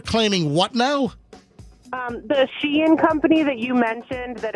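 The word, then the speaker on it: Shein: $44 on Amazon versus $14 on is it Shine or is it Shen it's Sheen that's yeah Sheen is how it's pronounced okay Sheen sh I got you hey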